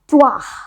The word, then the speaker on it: trois: But French में बोलते हैं इसको ट्वाह, ट्वाह, TROIS, ट्वाह। ट्वाह नहीं है, ट्वाह जो बोलते हैं, ट्वाह, ट्वाह, ट्वाह। लिखो टू आ, TROIS।